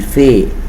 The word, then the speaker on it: fait: So with je, I say je fais, tu fais, il, elle fait. The same pronunciation.